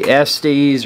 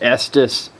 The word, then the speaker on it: Estes: a video review of the SDS or maybe it's pronounced Estes rascal and hijinks model rocket